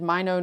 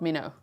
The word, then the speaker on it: Minot: 2 Blue Crayon says Minot, not Minot. Minot, okay. I haven't heard them say it like that, but okay. Is that true? Locals, tell me, is it Minot? Must I say Minot?